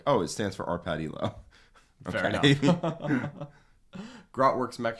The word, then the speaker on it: Elo: see so yeah uh confirmed via wikipedia it's ello oh or elo elo okay all right i